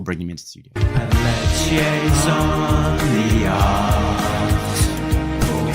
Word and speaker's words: Pelletier: Pelletier rhymes with Pia or Tia, as Tim correctly points out.